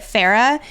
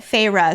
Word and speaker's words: Feyre: So I always pronounced it Farah. And until last episode, the beginning of the episode, Nicole is helping me reprogram my brain to calling it Feyre.